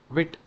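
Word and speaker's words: Vite: Pro you know uh it is actually pronounced as this one single thing known as wi wit so this actually gives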